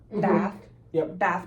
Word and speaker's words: Ba'ath: And what happened basically is that he and this group called I hope I'm pronouncing this right, it's B-A''Th, Ba'ath Party.